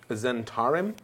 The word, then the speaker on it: Zhentarim: Pronounce it. Zentarim.